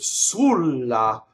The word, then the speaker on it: sulla: accent of the word sulla the accent should be on the first syllable but he's like suru